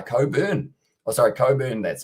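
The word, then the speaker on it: Cockburn: And I said there's a whiskey called Cobain that's pronounced Coburn.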